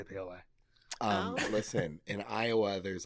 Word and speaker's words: Paoli: Paoli. I thought it was Yeah. Paoli. I refuse to say something. That's how you can tell how much from Iowa. Yeah. Doesn't know how to say Paoli.